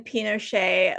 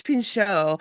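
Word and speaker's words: Pinchot: I think it's pincho. You just added an extra syllable.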